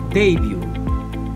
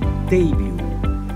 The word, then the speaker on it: debut: on the first syllable debut debut in american english the stress would be on the second syllable debut debut number five in